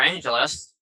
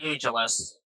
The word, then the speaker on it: Port Angeles: And Santa for Angel or Angelus. I don't know why I say Angel. It's It's pronounced Angelus.